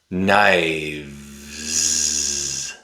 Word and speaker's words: knives: knives knives When the noun becomes plural, the f changes to v. The v makes a voiced sound.